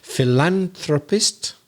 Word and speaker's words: philanthropist: to pronounce philanthropic oh i noticed a stress change there on one of the syllables philanthropist so it's in the second syllable when it's a noun philanthropist but it's philanthropic it's on the third syllable when it's the adjective and there's also the